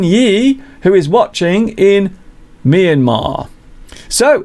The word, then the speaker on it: Myanmar: I once got into trouble for pronouncing Myanmar as Myanmar. I got a lot of people saying, "Mr. you've got it wrong. It's not Myanmar, it's Myanmar."